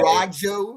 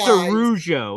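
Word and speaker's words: Araujo: can't say that we're a dog shit destination and then Matthew also say Arajo. they're the reason that someone else. It's pronounced Arujo. It's pronounced Arujo.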